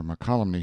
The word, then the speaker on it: Mokelumne: that name called it and got this colony makalah NEMA colony my colony I have seen some of the beautiful opals they find in Calaveras County near Mokelumne Hill some of them are very handsome dramatic